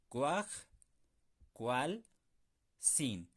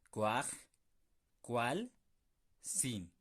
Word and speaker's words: kuajkualsin: En este caso, ¿cómo sería? Cuaj, cual, sin. Son tres sílabas. Cuaj, cual, sin. Inténtenlo ustedes conmigo. Cuaj, cual, sin.